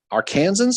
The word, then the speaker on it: Arkansans: Arkansans, okay.